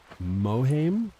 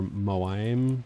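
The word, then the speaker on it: Mohiam: But in the Dune books and films, I believe her name is Reverend Mother Mohaim or Moaim, something like that. I don't remember how to pronounce it, but it's Mohaim.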